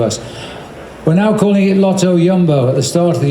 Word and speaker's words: Lotto Jumbo: so different to us we're now calling it Lotto yumbo at the start of the year we were allowed to call them Lotto jumbo in the old days it was leopard Tre